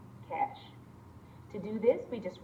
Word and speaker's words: cache: speed up subsequent retrievals it is pronounced cash to do this we